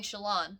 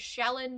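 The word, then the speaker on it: Shallan: much so challan's book i'm saying shalon because they call her shalon in every official review that i've seen so i'm just going to assume that i've been pronouncing it incorrectly as shaolin this entire time and i'm going to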